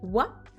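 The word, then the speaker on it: は: la particule de thème what qui s'écrit ha mais qui se prononce sous voix c'est l'une des seules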